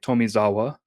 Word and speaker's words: Tomizawa: The producer for this game and also just the general Tales like series producer, Yusuke Tomizawa. I probably Nah, man, you mispronounced nailed that.